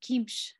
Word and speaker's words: qimš: And its name is just kimsh, and I'll spell it.